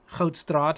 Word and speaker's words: Hoedstraat: I'm going to click 2010, and I mean, that is 2010, Hoed Street, Hoedstraat, I should say. Sorry, that's how you say it in Afrikaans.